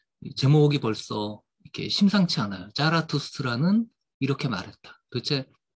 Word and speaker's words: 차라투스트라: 뭐 실제 발음이 이 차, 아, 죄송. 요, 이제, 짜, 하고 차의 중간 정도 됩니다. 독일어의 이 Z 발음이.